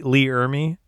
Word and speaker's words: Ermey: I part of me goes, I was hoping that you're going to say Lee Ermey. Is that how you say it? Yeah, Lee Ermey.